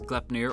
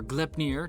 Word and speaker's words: Gleipnir: opens at once again as kleppner or GLIP near depending on your pronunciation seems to like to